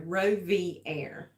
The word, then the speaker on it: Rovier: How to say his name. So Rovier. You might as well go ahead and tell them why. This is the only dog on the planet with that name. It's French for rover.